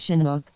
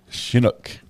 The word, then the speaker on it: Chinook: just wanted to say it's Chinook so it's your Sheen not your chin Chinook it's your shin not